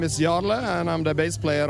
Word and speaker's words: Jarle: introduce yourself for our viewers my name is yarla and I'm the bass player of ride amazing